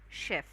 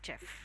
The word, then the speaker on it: chef: It's chef. Okay. Chef show. It's not chef.